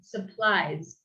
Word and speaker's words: supplies: Recuerden, es como súper importante en inglés que no leamos como esas palabras, si fuera como palabras de español. Supply, supplies.